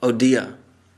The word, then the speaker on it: Odia: Orissa is the current pronunciation. But Odia is the more accurate pronunciation.